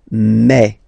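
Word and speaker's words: mes: aspect of it then remember that this a s here combined will give you the sound e okay so you'll pronounce it like me me me okay so logical same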